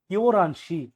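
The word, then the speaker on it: 열한 시: সঠিক উচ্চারণ কি হবে? ইও রানসি 11টা, এইও 11টা বাজে।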